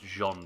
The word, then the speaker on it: Jean: as real name is gene pronounced Jean because he's French no Jean French woo